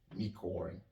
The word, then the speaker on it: unicorn: voyelles-là, ça va donner unicorn. Parce que c'est vrai que le mot commence par une voyelle, mais cette voyelle, lorsqu'on la prononce, elle est consonantique.